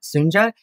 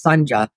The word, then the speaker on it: Sunja: I mean, obviously, I do share some things with Sunja, and her name is pronounced Sunja, not Sunja.